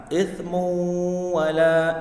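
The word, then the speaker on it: إِثْمٌ وَلَا: Nah, ithmu wala dibaca berdengung. Ya, dibaca berdengung. Karena ini bagian daripada hukum bacaan idgham bi ghunna. Jadi cara bacanya adalah ithmu wala. Jadi agak ditekan 2 sampai 3 harokat.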